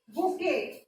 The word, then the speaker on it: bouquet: सो BOUQUET, इसको क्या pronounce करते हैं बेटा? बुके.